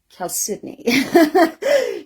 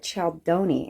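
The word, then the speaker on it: chalcedony: because Cal cidney is spelled chalon but it's pronounced Cal cidney so when we were first um doing a lot of a lot of the footwork to start the business we still called it choni in fact we' never heard it even called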